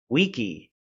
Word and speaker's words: Vici: and in college, and it's actually pronounced wiki in Roman in the Latin language. So, I may accidentally say wiki, and it drives me nuts to say Vici.